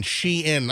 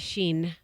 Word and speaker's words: Shein: It's S-H-E and then I-N. Shein. Okay, I'm glad to know. I was pronouncing it Sheen.